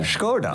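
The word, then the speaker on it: Skoda: Scoda.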